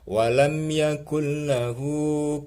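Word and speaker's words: ولم يكن له: Ini cara bacanya, nunnya masuk ke lam. Tulisannya ada nunnya, tapi cara bacanya ketika membaca suara nunnya hilang, seolah-olah tidak ada. Karena apa? Masuk ke lam dan tanpa berdengung. Cepat bacanya. Walam yakul lahu. Cepat-cepat pindah kepada harokatnya lam. Walam yakulla. Tidak boleh walam yakullahu, salah.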